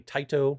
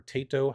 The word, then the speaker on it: Taito: has been approved by taito or taeto however you want to pronounce it they love this artwork